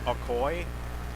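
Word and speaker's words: Akoi: And that will be, I believe the pronunciation is Aoy. A K O I is the spelling for the last name. And it'll be Jasmine Aoy of West Fargo United will take on Hadley V in the quarterfinals.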